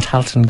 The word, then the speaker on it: Tailteann: Am I pronouncing this correctly on Tailteann Games? Yes, correctly, yes.